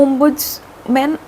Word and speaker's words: ombudsman: तो हम बेसिकली अपना ओमबुजमन सिस्टम है। पहले तो हम बात करते हैं कि देखो अह ओम बुड्स मैन ओमबुजमन सॉरी स्पेलिंग अच्छे से याद कर लो पहले तो